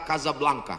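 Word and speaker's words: Casablanca: Hasan dua di Kota Kasablanka Hai ibukota Maroko tempat saya kuliah nama negaranya Maroko ibukotanya tulisannya Caca blancha cara bacanya Kadzab langka Kaza artinya rumah Blanca artinya putih Kasablanka rumah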